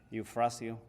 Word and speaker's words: Eufracio: Maybe I can spell it for you. It's EUFRACIO. Eufrasio.